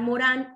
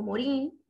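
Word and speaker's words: Morin: Y por último, el pensamiento complejo, que aquí vamos a hacer relación con Edgar Morán o Morín, dependiendo de cómo lo queramos pronunciar en francés o en español.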